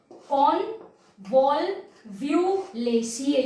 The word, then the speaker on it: Convolvulaceae: Convolvulaceae, you can pronounce it like this.